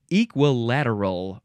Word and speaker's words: equilateral: effect time okay the next word is equilateral or equilateral or equilateral equilateral some people just take out a whole syllable adjective from 15 71